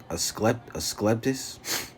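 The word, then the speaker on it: Asclepius: Rockefeller then took control of the American Medical Association and if you know that symbol, that's how you say it, a skleptis.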